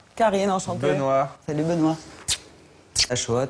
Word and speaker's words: Haxoa: Achoa, ça s'écrit H-A-X-O-A. Comme Bichente Lizarazu.